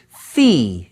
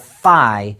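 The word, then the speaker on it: phi: fi by the way I and other mathematicians sometimes pronounce this number Fe instead of fi especially to remind us of its intimate connection with the Fibonacci numbers fi is also referred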